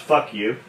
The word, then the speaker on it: Fuku: Pronounced fuck you, F-U-K-U.